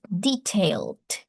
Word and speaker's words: detailed: So, this is detailed. Detailed. Detailed. The last e is not pronounced.